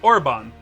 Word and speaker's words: Orbonne: a real word cerbone let me see how this is pronounced sorbonne sorbonne so it's orbon the sorbonne's a real